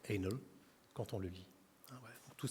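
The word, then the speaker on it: ANL: dont la plaque d'immatriculation est Anel a n l qui se prononce Anel quand on le lit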